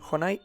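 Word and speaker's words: Jonay: cualquier sitio tecleando Honai SS. Honai es un nombre geneche que se escribe con J y con Y.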